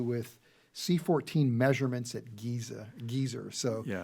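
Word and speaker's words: Gezer: Geyser. So, yeah. Um, Gazer is how I pronounce it.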